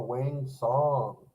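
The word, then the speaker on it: Wang Cong: Oh, wang song is how you actually pronounce it.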